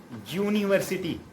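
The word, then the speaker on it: university: vowels में शामिल है, लेकिन यहाँ यूनिवर्सिटी का प्रोनाउंसिएशन जो है ना यू का आ के जैसा, अम्ब्रेला के जैसी आवाज़ नहीं निकाल के यहाँ यू के या के ऐसी आवाज़, वाई की आवाज़ निकाल रहा है, इसलिए उसको हम नहीं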